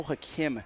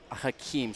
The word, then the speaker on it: Hakim: And Kenley, we were just informed that it is pronounced Mo Hakim, not Hakeem.